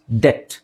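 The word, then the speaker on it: debt: next ಇದು ಇದು easy ಡೆಬಿಟ್ ಅಂತ ಓದಬೇಡಿ ತುಂಬಾ ಜನ ಡೆಬಿಟ್ ಅಂತ ಓದ್ತಾರೆ ಅಲ್ಲಿ ಬಿ ಸೈಲೆಂಟ್ ಆಗಿದೆ B silent it's ಡೆಟ್ ಡೆಟ್ ಸೋ ನೋಡಿ ಡಟ್ ಡೆಟ್ ಡೆತ್ ಅಲ್ಲ ಡೆಟ್ ಡೆಟ್ ಅಂದ್ರೆ ಸಾಲ ನೆಕ್ಸ್ಟ್ ಇದು ಬಿ ಸೈಲೆಂಟ್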